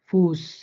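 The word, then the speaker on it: Fuß: যেমন স্টাসে, স্টাসে, ফুস, হাইসেন, সবগুলো দেখেন অ্যাসেট কিন্তু স এর মতো করে, মানে হালকা একটু মোটা স এর মতো করে, স্পষ্ট স হবে না কিন্তু।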